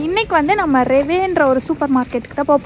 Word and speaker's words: REWE: Okay, so இப்போ வாங்க வீட்டுக்குள்ளே போயிட்டு நாங்கள் வந்து இன்றைக்கி ரெவே சூப்பர் மார்க்கெட், ஆமாம் கரெக்டாக தான் ப்ரொனவுன்ஸ் பண்ணுறேன், ரெவேன்னு ஒரு சூப்பர் மார்க்கெட் வந்து போய் எக்ஸ்ப்ளோர் பண்ண போகிறோம்.